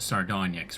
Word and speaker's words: Sardonyx: It is pronounced Sardonyx, right?